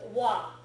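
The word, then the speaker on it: は: So you write ha, but it's pronounced wa. Yeah, but only when it's being used as a grammar structure, Okay.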